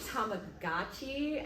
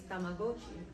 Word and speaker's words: Tamagotchi: So growing up, we all used to say Tamagotchi, and then I learned that the correct way to say it is Tamagotchi.